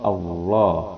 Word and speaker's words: Allah: Cara membacanya dengan bunyi a, billah. Ya kalau tafhim pakai o, Allah. Itu bedanya ya.